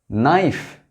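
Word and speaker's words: knife: यहां के सभी साइलेंट है। नी। नेट, नाइफ, knob.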